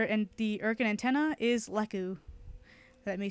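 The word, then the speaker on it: Lekk: fanmade name for and the urkin antenna is Leu let me spell it out for you l e k k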